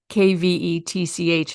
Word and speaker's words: kvetch: Kvetch, phonetically kvetch. It's a Yiddish word.